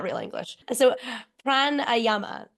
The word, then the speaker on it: Pranayama: absolutely um so you did say it right Prana Yama um Prana is your life force right our